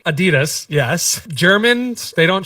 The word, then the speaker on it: Adidas: and the well Adidas is the same right Adidas that's the pronunciation but this is something to pay attention